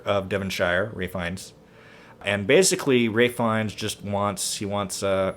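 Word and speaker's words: Ralph Fiennes: knightley is georgina who is the duchess uh ralph finds right it's spelled ralph but it's pronounced ray ray finds is the duke dominic cooper is charles gray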